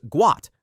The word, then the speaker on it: Gout: The correct pronunciation is Guat, not how most people initially read it.